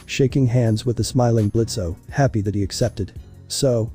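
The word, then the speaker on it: Blitzø: 3 2 1 On stage in front of open purple curtains, Blitzo glided into view. Hi, I'm Blitz. The O is silent and I'm the founder of IMP.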